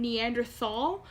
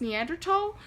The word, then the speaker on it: Neanderthal: heard of the term Neanderthal but that's some because actually it's pronounced Neanderthal and when people say Neanderthal they're usually talking about